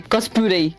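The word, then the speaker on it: コスプレ: l'onomie du cosplay mondialement en japonais ça s'écrit COSP parce que la prononciation telle qu'on le dit maintenant est en anglais cospl parce que japonais c'est cospuré c'est principalement à Tokyo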